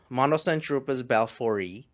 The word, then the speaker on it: Monocentropus balfouri: world is the m balfouri or the balfouri i've been corrected recently by a latin speaker so it's pronounced m monocentropus balfouri and they are the